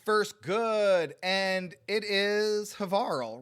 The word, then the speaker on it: Havarl: I've got the first good, and it is Havarl, rhymes with Carl.